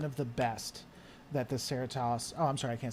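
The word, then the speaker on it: Cerritos: over and over and over yeah it's the ceratos that's exactly how you say it that is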